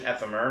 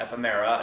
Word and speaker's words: Ephemer: Ephemer was, and that's the official pronunciation, Ephemer, not Ephemera, not whatever.